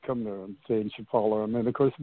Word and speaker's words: Chapala: living on, I think it was said, Lake Chappas. Is that right? How do you say that? Lake Chapala.